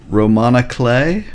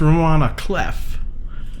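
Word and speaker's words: roman à clef: a pck no come on a t a Roman clay what is that I always heard pronounced Roman cleff that's how it's spelled I I thought I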